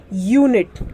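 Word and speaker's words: unit: हम क्या पढ़ते हैं यू एनआईटी यूनिट क्या पढ़ते हैं यूनिट पढ़ते हैं यू को यू पढ़ रहे हैं उसी तरीके से यू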